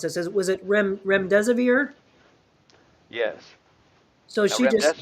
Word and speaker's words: remdesivir: Terry, I think I don't know how you pronounce this. Was it remdesivir?